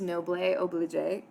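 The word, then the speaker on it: noblesse oblige: So the first one, I am going to butcher this pronunciation, but I believe it's pronounced noble oblige.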